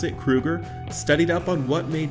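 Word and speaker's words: Kroeger: lead singer Chad Krueger yes that's how you pronounce it Krueger studied up on what made music sell and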